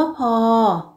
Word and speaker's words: พ่อ: มี คำ ว่า พอ เป็น อักษร ต่ำ พื้น เสียง สามัญ ไม่ มี รูป วรรณยุกต์ คำ ว่า พ่อ เป็น อักษร ต่ำ ผัน ด้วย วรรณยุกต์ เอก ดัง นั้น จะ ออก เสียง โท คำ ว่า พ้อ ยท์